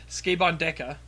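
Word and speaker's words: スケバン刑事: Anyways, so the latest one I watched is Sukeban Deka, or pronounced properly, as Clayton likes to mock, Skabon Deka.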